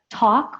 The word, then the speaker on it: talk: Talk, we don't pronounce the L, so just T-A-U-K.